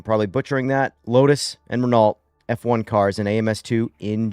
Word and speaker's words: Renault: So in French in France it is said as reo the L and the T at the end are just absolutely silent. So, don't worry about them. Renault. Renault.